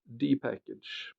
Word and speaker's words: dpkg: It is in fact an abbreviation of Debian Package and generally pronounced as dpackage. Okay, dpackage.